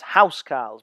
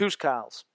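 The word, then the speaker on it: huscarls: although you might prefer to know them as house cars because that's what it looks like but I'm told that it would be pronounced H cars these H cars would serve as bodyguards to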